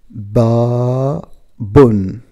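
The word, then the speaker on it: بابٌ: Okay, well, the first word is ba bun, ba bun, which mean door, a door. And the second word, it's abun, abun, which mean father, father. Well, babun, abun, babun, abun.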